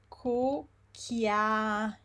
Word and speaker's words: cucchiaio: First of all, we have the pattern cu, which we say is co. Yes. All of this combination of letters have the sound k, whereas all of this combination of letters have the sound.